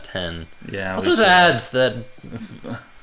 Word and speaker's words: iPhone X: X. And we should have pronounced that 10.